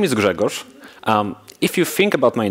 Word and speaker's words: Grzegorz: overview peach kind of discussion my name is Gregor if you think about my name in if you drop disease it becomes pronounceable i come from poland i work remotely